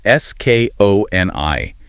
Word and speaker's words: Skoni: That's S-K-O-N-I, and it's pronounced Skoni.